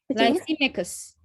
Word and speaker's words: Lysimachus: Lysimachus.